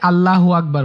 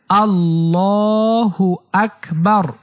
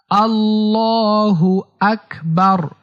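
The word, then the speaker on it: اللّٰهُ أَكْبَرُ: অনেকে আল্লাহু আকবার বলে। এটা ভুল উচ্চারণ। সঠিক উচ্চারণ হচ্ছে আল্লাহু আকবার। আল্লাহু আকবার।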